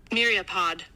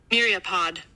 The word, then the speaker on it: myriapod: like you to hear how it is uh pronounced myriapod myriapod okay so we have a word here meat